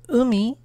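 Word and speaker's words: 海: Then we have ocean, pronounced umi, and it has the building block of water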